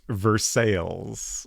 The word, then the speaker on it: Versailles: Uh, Uniger Crush says, "Multiple Midwestern states have a Versailles pronounced Versailles."